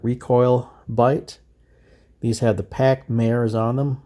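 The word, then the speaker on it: Pachmayr: These have the Pac Mares on them. I've heard it pronounced Pac Meyer, but I say Pac Mare.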